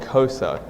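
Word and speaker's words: Xhosa: the townships is called cosa and it's spelled x-h-o-s-a and the way that you say it is you have to start off like you're calling your dog or a horse so it's like and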